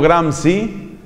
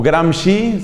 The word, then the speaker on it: Gramsci: Hay pensadores, entre los cuales dos que hay que conocer son un italiano, cofundador del Partido Comunista en ese país, Antonio Gramsci, o Gramsci, se escribe G-R-A-M-S-C-I, y una mujer, una francesa llamada Simone de Beauvoir.